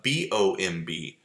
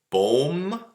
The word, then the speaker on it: bomb: of it sounds good okay what about uh b-o-m-b boom no that's bomb comb tomb and bomb completely